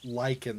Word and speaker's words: lichen: of them are Greek the Lichen that I saw reminded me of that because liken is l-i-c-h-e-n and I didn't see